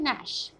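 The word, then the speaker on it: gnash: Used, as इन नैश, ji silent है यहाँ पे, इसकी साउंड है नैश।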